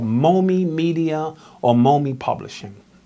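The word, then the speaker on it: MOME: we started is called momi media or mommy publishing m om e I named it after my four children Marcus Odyssey Malcolm and Eli and it's almost phonetically mom II so that includes moms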